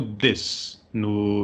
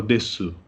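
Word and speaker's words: です: do curso de línguas, que ele falava desu. Ele fazia o U, ele pronunciava o U, apesar de que todos os outros professores falavam des, né? Mas com a pronúncia do U oculta, né?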